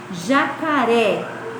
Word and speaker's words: jacaré: Então, um exemplo, quando eu vou falar jacaré, que sílaba será que é a tônica, você sabe? Então, vamos lá, ó. Jacaré, ré. O ré, ele tem um som mais forte. Então, é a sílaba tônica da palavra, tá?